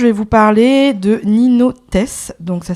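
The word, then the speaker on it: Theys: vous parler de Nino test donc ça s'écrit Nino Nino et Tess ça s'écrit T H e y s non mais ça se prononce test c'est un du coup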